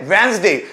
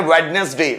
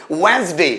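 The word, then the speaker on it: Wednesday: next day क्या बोला हमने वेनसडे इसको ज्यादातर स्टूडेंट पढ़ते हैं वेडनेसडे नो इट्स a wrong प्रशन राइट प्रोनंसिएशन इज वेनसडे क्या बोलेंगे वेनसडे नेक्स्ट है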